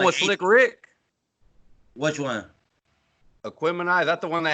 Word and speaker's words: Aquemini: But like I said, Aquarium. How you say it, Chris? Aquemini.